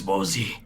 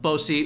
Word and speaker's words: Bosi: And he says, My name is Bozi. Bozi. Okay. What? Bozi. No, this is Ryan. Can you say that in just J voice? Because I need to get it. But Bosi.